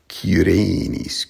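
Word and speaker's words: Cyrenis: For these two Greek names, there's a Y in Latin that comes from the Greek letter upsilon, and it's sort of hard to pronounce. It's sort of like an U sound. So, Libyssae Cỳrēnīs, Cỳrēnīs.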